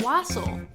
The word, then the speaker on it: wassail: Wassail? I always thought it was pronounced Wassail. Wassail. I've seen it pronounced both ways. I don't think it matters.